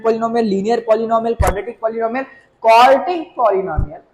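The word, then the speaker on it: quartic: आई एम not saying क्वाड्रेटिक, आई am just saying क्वार्टिक। Spelling पे ध्यान देना। यहाँ पे डी है, यहाँ पे क्या है? टी। क्वाड्रेटिक degree 2, क्वार्टिक degree 4।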